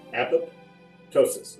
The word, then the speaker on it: apoptosis: now make sure you learn how to pronounce that two words apoptosis not apoptosis think of it apoptosis that's the correct definition or correct pronunciation this one is althy